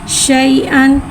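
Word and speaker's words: شيئًا: को बगर खींचे पढ़ेंगे हमजा के ऊपर दो जबर की तनवीन है दो जबर की तनवीन को मुंह खोल के अदा करके पढ़ेंगे और अलिफ को साइलेंट कर देंगे लिहाज अलिफ को नहीं पढ़ेंगे हमजा दो जबर अन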